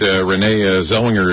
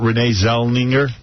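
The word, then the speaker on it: Renée Zellweger: And then, I heard Renee Zellweger is 1 month vomiting away from being really hot.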